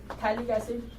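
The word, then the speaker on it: phthalic acid: ठीक है, तो देखिए इसे हम क्या कहते हैं, दिस इज थैलिक एसिड, ठीक है, this is आइसोथैलिक एसिड, P silent of course, ठीक है, और this is going to बी टेरिफ्थैलिक एसिड।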